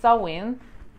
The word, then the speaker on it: Samhain: We have different Samhain. I know that the pronunciation is not as you can see it. The spelling is Samhain, but the pronunciation is Samhain.